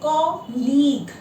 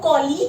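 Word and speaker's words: colleague: इसी तरीके से एक और शब्द है कॉलीग। मेरे साथ काम करने वाले जो कर्मचारी हैं, आप लोग कॉलीग की जगह कोलीग बोलते हैं। इसका सही प्रोनाउंसिएशन है, शब्द का सही प्रोनाउंसिएशन,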